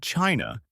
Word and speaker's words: Qin: The word China used across most of the world is widely